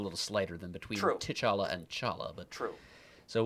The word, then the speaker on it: T'Challa: another character to say, my name is not pronounced T'Challa. He said, the T is silent. So Chala.